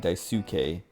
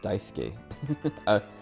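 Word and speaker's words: Daisuke: k e um and the way Vinnie was pronouncing it he was he was saying dauk which is like kind of funny cuz I don't know like it's just dice SK like you have to say d 2K which that's like a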